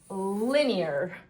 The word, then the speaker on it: linear: I'll move the N to the first syllable and try the I sound. L E. Linear.